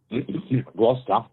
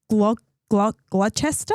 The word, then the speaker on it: Gloucester: It's an area on Gloucester? How do you say that? Gloucester. Gloucester? Gloucester. It's like Worcestershire. Worcestershire sauce.